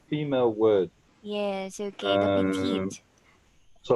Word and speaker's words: petit: Like if you say petit. If you say something is small, you say petit. Now petit you will spell P-E-T-I-T. You don't pronounce the last T because there's no E.